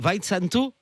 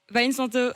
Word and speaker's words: Weinsanto: Alors je crois que je prononce mal son nom, je ne suis pas un spécialiste. Victor Weinsanto. Vincento. Weinsanto.